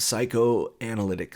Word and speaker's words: psychoanalytic: This is a method of analyzing and interpreting works of art through the lens of psychoanalytic theory.